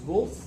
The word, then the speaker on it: Volf: and his last name is Wolf, V-O-L-F, V? V, Wolf, V-O-L-F.